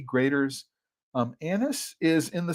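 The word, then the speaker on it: Graeter's: absolutely um greaters yeah you just you do spell it g AE graders um Anis is in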